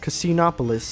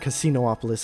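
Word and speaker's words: Casinopolis: Knuckles' next stage is Casinoopolis. I made sure to say it right this time. I in a previous take I said Casinoopolis and I felt really dumb.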